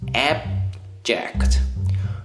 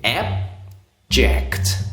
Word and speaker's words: abject: unchanged it is both abject now remember the last sound and abject and remember the stress on the first syllable abject all right now this